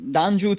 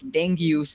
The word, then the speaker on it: Dangiuz: mean yeah I mean you can call me Dan Jude so I mean you you never know how people from USA or UK like pronounce it like this is weird stuff like dang goose like it's